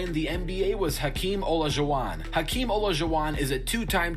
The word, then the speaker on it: Olajuwon: He would know it's Olajuwon. Unless I'm wrong and everybody else is wrong. But I thought it was Olajuwon.